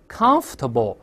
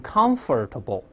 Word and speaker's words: comfortable: 你像舒服的，咱们以前也说过 comfortable，而不要读成 comfortable，那个 or 不发音。